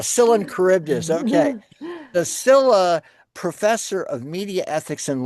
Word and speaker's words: Silha: We have Professor Jane Kirtley, who's the SILHA. Is it SILHA? Is that the right pronunciation? No, the H is silent. It's like Scylla and Charybdis. Ah, Scylla and Charybdis. Okay. The Scylla Professor of Media Ethics and Law.